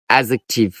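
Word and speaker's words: adjective: ডি বর্ণের পরে যদি যেই এবং জি থাকে তাহলে ডির উচ্চারণ সাইলেন্ট থাকবে।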